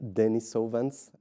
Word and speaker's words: Denisovans: Like Denisovans. Je le prononce bien?